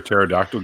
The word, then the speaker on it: pterodactyl: Why you can't hear a pterodactyl go to the bathroom? Because the P is silent.